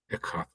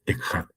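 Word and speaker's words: אחד: Porque es Echad. Y Echad se pronuncia con J, por si se me había olvidado decirles que no hay J en el hebreo, ¿sale?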